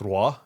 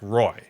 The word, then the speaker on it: Roy: always pronounce it patrick roy right and and i remember rob saying like he likes that because most people butcher the french pronunciation of his last name like when i was